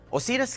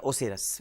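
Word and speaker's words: Osiris: اوسیرس کی اصل بنیاد یا اوسیرس، یہ دونوں تلفظ آتے ہیں، اوسیرس یا اوسیرس.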